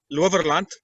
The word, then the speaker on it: Lowerland: No, it's an Afrikaans word, actually, Loverland.